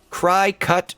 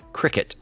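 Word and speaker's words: Cricut: source is urban elements cry cut is pronounced like cricket FYI then why didn't they just spell it that way cuz when I see cry cut I think of french fries you're fine hi Jericho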